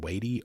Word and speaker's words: Watie: They came under attack from Indian Home Guard under Stand Watie, or Waddy, depending on who you are and how you want to pronounce his name, which was the last Confederate general to actually surrender.